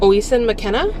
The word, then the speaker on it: Oisin McKenna: Evenings and Weekends by, I don't know how to say this author's name, but Oisin McKenna is how it's O-I-S-I-N, McKenna.